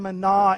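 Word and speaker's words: manna: deeper than just that this is the Hebrew word mana mana we actually we we we tend to pronounce it as Mana like in the story of Exodus it's the same word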